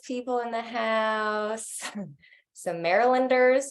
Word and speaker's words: Marylanders: Louis people in the house, some Marylanders.